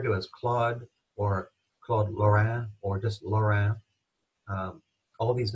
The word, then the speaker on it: Lorrain: I'm not saying the N in this case. He's called that, and you'll see him referred to as Claude or Claude Lorrain or just Lorrain.